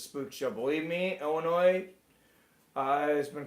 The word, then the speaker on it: Illinois: We pronounce it Illinois.